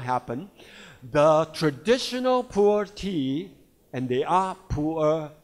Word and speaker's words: pu'er: In typical Chinese pronunciation, Mandarin pronunciation, it's called pu'er cha, pu'er tea. But with your typical intonation, it may become a poor tea. So I suggested to the company, don't say poor tea. It will sound like a poor tea. So say it like a pure tea.